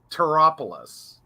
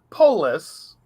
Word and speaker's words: TarotPolis: So we think it's Taropolis. Right. It's the word tarot plus the word polis, Polis.